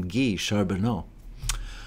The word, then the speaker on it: Guy Charbonneau: was actually french canadian i think he pronounced his name ghee charbonneau um marion sneezed twice